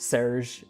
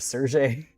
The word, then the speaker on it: Serge: Like me trying to explain that Serge is is pronounced Serge instead of Sergey because a lot of people read it and they assume it's it's Sergey, but it's Serge because it's the French pronunciation and that isn't particularly obvious.